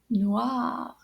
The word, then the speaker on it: noir: So black in French is noir. Can you say that? Noir. So it's spelled N-O-I-R, noir.